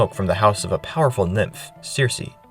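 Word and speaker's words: Circe: of a powerful nymph, Cersei, which can also be pronounced Kirk. I think that's the way they do it in the Greek, but here I'll be calling her Cersei.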